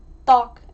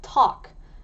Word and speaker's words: tteok: So tteok is a little bit difficult to pronounce because it's got a double D sound that we actually don't have in English and I don't know if you can hear the difference, but there's tteok, ttok and tok and the first and last one are wrong and tteok is the one that you want to pronounce it as.